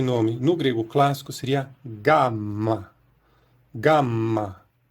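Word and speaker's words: γάμμα: E a pronúncia moderna tem um som fricativo. O G não soa exatamente como o G do português. A gente pronuncia isso como gama, gama.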